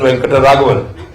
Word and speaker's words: Venkataraghavan: But my friends in England, when they couldn't pronounce Srinivasan Venkataraghavan, how do you pronounce his name? I said, just try saying Rent a Caravan and you won't go far wrong.